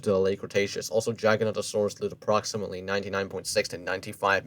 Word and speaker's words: Giganotosaurus: example the gigantosaurus Giganotosaurus you spelled it correctly why didn't you pronounce it correctly then I know some people call it Giganotosaurus Giganotosaurus I know at least Giganotosaurus Giganotosaurus Giganotosaurus they still have that no toe instead of you know gigantosaurus that's the dupious genius